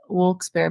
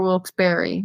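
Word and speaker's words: Wilkes-Barre: local haunting here in wols Bear PA or will Barry depending on how you pronounce there's so many ways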